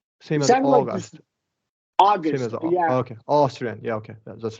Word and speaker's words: Austrian: So we're gonna do a like a short O for relaxed lips, Austrian. Okay. Sorry, Austrian. Austrian could be short O, lack short A. Doesn't matter. They're the same sound Austrian.